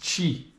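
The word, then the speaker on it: 七: the number seven and it is pronounced Chi that's a q and for that start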